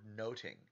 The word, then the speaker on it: nothing: first pun is that nothing in Shakespeare's time was pronounced closer to the word noting they wouldn't have pronounced that th sound so noting or making note or